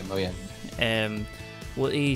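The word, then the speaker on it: Mojang: passed over to like the moang apparently it's now pronounced um yeah moyang um what he said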